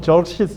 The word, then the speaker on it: 크세르크세스: 그다음에 그 뒤를 위해서 또 전쟁을 이어간 사람이 크세르크세스. 한글 성경은 크세르크서스라고 발음을 하는데 아 우리 에스더서는 아수에로 이렇게 번역을 했어. 에스더의 남편이었던 왕 아수에로가 크세르크했어요. 영어로는 뭐 저시스 이렇게 발음이 좀 어렵게 번역이 되.